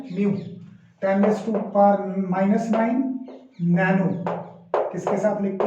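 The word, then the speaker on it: mu: इसके लिए जो सिंबल है, इट इज not from English, it is from Greek, म्यू। क्या प्रोनाउंसिएशन है इसकी? म्यू, मतलब इसकी साउंड क्या है? म्यू।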